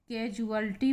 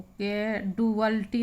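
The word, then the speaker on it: casualty: फिर अगला शब्द है आपका कैजुअल्टी पढ़ेंगे इसको, कैडुअल्टी नहीं पढ़ेंगे।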